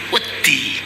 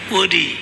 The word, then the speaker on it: wedi: bahasa Jawa itu ee ada misalnya ada kata wedi ya dalam bahasa Jawa itu kalau ditulis dengan huruf latin W E D dan I. Kalau orang bukan bukan Jawa pasti akan akan membacanya wodi ya woodi begitu ya.